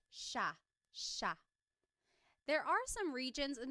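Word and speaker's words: siya: It looks like it should be pronounced sea, but it's actually pronounced sha sha.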